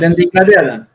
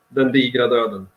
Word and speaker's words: Den digra döden: I can pronounce good. Dina Dogra, the very Swedish song with weird letters. Yes. Den digra döden.